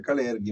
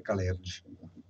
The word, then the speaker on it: Kalergi: Sì, alcuni dicono Kalerghi, ma secondo me è Kalergi. Kalergi, Kalergi, proprio come è scritto, esattamente come è scritto.